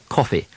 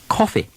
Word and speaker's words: coffee: category of words where the short o is followed by the letters s or th or F or ng words like lost cloth coffee song in American speech these words fall into the next pronunciation group will study but in England these are still short o words take the same quick short of sound that you just learned